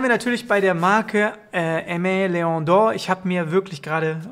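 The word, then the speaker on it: Aimé Leon Dore: Ich habe mir extra ein Video angeguckt, wie man das sagt, weil ich habe immer vorher gesagt, Aimé Leon d'Or war auf jeden Fall falsch, denn es wird Aimé Leon d'Or angeblich ausgesprochen.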